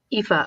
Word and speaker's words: Aoife: But it was originally I can't think of it. Aoife. Aoife. Okay, yeah. That's a very. That's how you pronounce it.